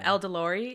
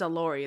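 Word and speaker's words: Elordi: have not seen Jacob El delori is that how you say his name El delori elori uh allori oh it's allori there's no D in it okay el delori el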